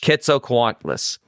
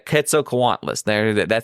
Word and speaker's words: Quetzalcoatlus: Hang on a second, because this is how you would pronounce this particular type of dinosaur, which is also very similar to a pterodactyl. Quetzalcoatlus. A Quetzalcoatlus. That's the name.